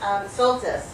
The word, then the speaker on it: Soltis: Did I pronounce it right? Soltis, thank you, Soltis.